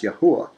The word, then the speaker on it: Yahuwah: I am staunch on the name of yahuwah it is pronounced yahuwah so it will read